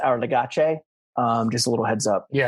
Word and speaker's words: Our Legacy: It's pronounced, first of all, it's pronounced Our Legace.